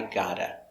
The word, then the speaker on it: gotta: But in America, we don't pronounce the V. People say, I got to. Pronounced, I gotta. Not spelled like this, spelled like this. But pronunciation, gotta.